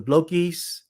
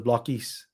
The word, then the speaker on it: Blockies: Pretty sure it's the blockies. Blockies, blockies, blokies, blockies. So it's blockies. All right. Let's call it as blockies then. Um. All right, guys. Let's see. The blockies team pronounce it as blockies at Toy Fair. There we go.